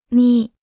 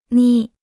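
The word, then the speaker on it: 你: repita en voz alta ni ni ni ni ni ni ni se pronuncia con el tercer tono la palabra ni es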